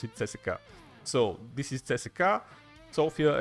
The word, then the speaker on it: CSKA: my home team is leki Sofia and we pronounce it cesa so this is cesa sopia and cesa 1948